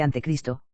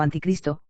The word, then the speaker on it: anticristo: llegar después de él ni se pronuncia ni se escribe ante cristo sino anticristo esto es contrario a cristo